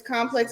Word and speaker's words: Complexx: So this one is Complex. It's spelled COMPLEXX. The 2 X's.